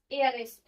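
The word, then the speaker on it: heiress: आई am going to marry dash एयर एस। अब इसका जो साउंड है एयर एस इसमें एच साइलेंट होता है तो एयर एस वोवेल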